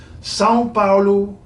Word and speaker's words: São Paulo: swear it is so there you go today's pronunciation tip Sao Paulo huge inator and bond Jia